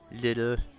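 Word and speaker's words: Lidl: of saying little he just said Li Li little like we going to the li no it's it's actually it's actually pronounced like officially it's actually pronounced little cuz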